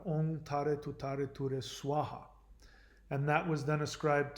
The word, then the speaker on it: Swaha: They pronounce it wrong because they have a strong accent. Om Tare Tu Tare Ture Soha. It's not Soha, it's Swaha.